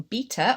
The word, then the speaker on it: beta: when it launches, but in beta, or beta, as I'm trying to teach myself to pronounce it for my American friends, you can click and see the people on your level 1.